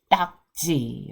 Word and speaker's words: 딱지: t g t g there is no Double D sound in English we say no so that's spelled the d d but we don't have that kind of strong sound in English but we will say d g okay so we have